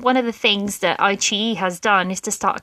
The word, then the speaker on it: iQIYI: And then there's iQIYI, and that's spelled IQIYI, but it's read iQIYI, which has actually also started to carry some Korean dramas on there.